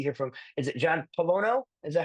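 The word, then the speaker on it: Pollono: I can see here from, is it John Polono?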